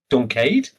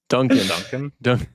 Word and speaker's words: Duncan: Like, I love before we get introduced to Duncade? Is that how you say his name? Duncan. Duncan, yeah. Duncan.